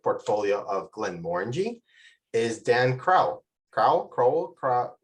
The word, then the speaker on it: Crowell: It's Crowell like bowl, but Crowell. similar to Glenmorangie, the distillery. Glenmorangie is uniformly mispronounced, and we just don't mind. So you can call me whatever you'd like. But you have the similar emphasis on the O. So bold. Yes. Crowell, exactly. Yes, exactly.